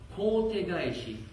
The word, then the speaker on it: kote gaeshi: Donc on prononce kote gaeshi.